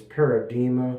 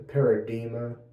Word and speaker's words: Paradigma: soap has been this paradima I believe that's how it's pronounced I believe the g is silent like the word Paradigm the paradima soap and that's made